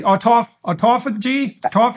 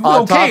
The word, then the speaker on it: autophagy: Autophagy? Absolutely. Self-devouring. Yes. You do. Autophagy, okay, so it does mimic fasting.